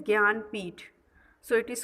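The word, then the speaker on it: Jnanpith: Okay, you can pronounce it Janpith, but actually its pronunciation is Gyanpith.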